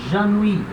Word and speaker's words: ennuie: Repara, de novo, vogal I no final não tem acento, tem uma vogal fraca, eu não pronuncio. Eu paro de falar aqui no I. Tá?